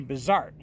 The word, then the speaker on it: Bizart: pronouncing it wrong and the emphasis actually on the second syllable so his name was actually bizart and and I was